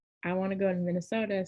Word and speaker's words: Minnesota: She'll say, I want to go to Minnesota so I can get me a mini soda, like, you know, a soda you drink, and it's Minnesota. It's the same thing. It's not how you spell it, but that's how you say it.